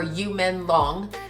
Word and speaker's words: 于朦朧: Okay, Alanu as we're saying it or you men long as it's pronounced in his language.